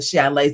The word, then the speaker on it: chalet: That's not chalet. Like it's in the Swiss Alps. Like you know we we're going skiing. It's a chalet. So I was away at my chalet.